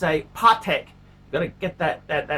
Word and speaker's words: Patek: they're they don't understand patek philippe it's a pot heck gonna get that accent right patek philippe and